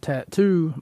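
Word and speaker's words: t.A.T.u.: A song by the name of All the Things She Said, done by a band named Tattoo, but it's spelled weird, T-A-T-U.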